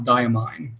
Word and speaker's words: Diamine: I'm pretty sure we're still mispronouncing diamine and Coeco. It's diamine. See? It is diamine.